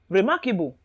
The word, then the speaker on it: remarkable: pulse will be stressed remarkable any type of what ends in abl e or ible stress will be on the syllable before the surface which means the syllable before the able that is mark then criticism criticism ic